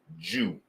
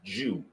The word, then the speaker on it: DJou: It's pronounced Jew. is pronounced Jew, right?